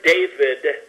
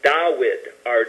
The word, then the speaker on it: David: So you get, like the word David, they say was not pronounced that way in the ancient Hebrew. It would be Dawid, or Dude, or Daoud, or Dawid.